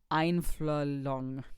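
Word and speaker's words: Einfühlung: It was actually a translation strictly from a German word, and I don't know how to pronounce the word. You can look it up. It's einflong.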